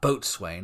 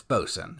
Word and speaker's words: boatswain: pronounce it you know it's not boat Swain it's bosen and this is what